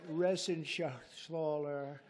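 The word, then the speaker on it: Reschenthaler: And Guy Resenshathaler. You know that Resenshathaler. That's actually the way you pronounce it, you know.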